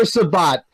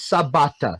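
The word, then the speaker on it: Sabat: oh I forgot Christopher Shabbat I think I said his name wrong is Sebata so but whatever he's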